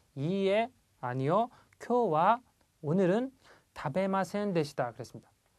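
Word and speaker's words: 今日: 그리고 쿄는 뭐 나왔었죠. 쿄 좀 깁니다. 발음 주의해 주시고요.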